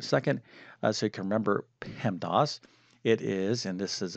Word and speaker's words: PEMDAS: Now, this is a saying, and we pronounce this as PEMDAS, all right?